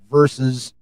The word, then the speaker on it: versus: And then in the big movie, it's Justice League versus... It's a 2-syllable fucking word. Versus. VERSUS. 2 syllables. Versus.